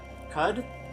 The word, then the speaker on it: Qud: So this is Caves of, I believe he said to pronounce it Cud? Caves of Cud?